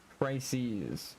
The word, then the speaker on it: crises: Crises with a Z. The plural of crisis is crises. The pronunciation of crises is crises with a long I sound and a Z ending.